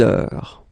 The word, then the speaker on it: heure: Il est 6 heures. All right, so heure, you write it like that. Remember, H is not pronounced, okay? So it goes like heure.